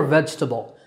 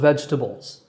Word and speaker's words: vegetable: Now, we've talked about a couple of vegetables, but are you saying the word vegetable itself correctly? It's vegetable. It's not vegetable, and there's no table in it.